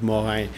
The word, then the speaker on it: Morin: You know, because my last name is Morin, right? Or the proper French way of pronouncing it is Morin. But I mean, when you look at that, I mean, it's shockingly similar to moron, right?